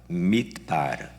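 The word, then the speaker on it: מדבר: 말은 히브리어로 다바르인데 광야는 히브리어로 mid바르입니다. 그러니까 미자만 빼버리면 거의 비슷한 발음입니다. 다바르, mid바르.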